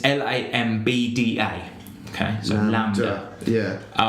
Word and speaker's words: Lambda: So I said to him, there's an album called, I think you pronounce it Lambda. It's Lambda. Okay, so Lambda.